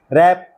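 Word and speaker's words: wrap: लोहा press world संसार W silent रैथ क्रोध रैप लपेटना रैक तोड़ना टूटा हुआ याद रखें रिमेंबर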